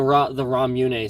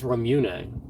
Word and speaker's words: Ramune: like, so like the Ramune sodas, like for the longest time I was saying Ramun soda, and it's Ramune. It's not Ramun, it's Ramune. And there's an E, it's literally spelled Ramun.